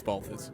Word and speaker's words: BALTHVS: I was like, is it Bats? Is it Balts? But I know it might it lends itself to confusion, but it's simple. It's Baltas.